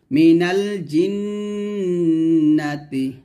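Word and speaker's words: من الجنة: জিন নুন জবর নাহতাতি মিনাল জিন্নাতি মিনাল জিন্ন নুন জবর আলিফ জবর নাসিন মিনালটা সঠিক ভাবে আদায় করবেন মিনাল জিন্নাতি এখন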